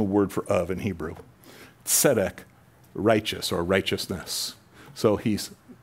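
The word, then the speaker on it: tsedek: means king in Hebrew sedek like TS not zedek with a z but a TS etic t-s-e-d-e-k that's kind of how you'd spell it King melak King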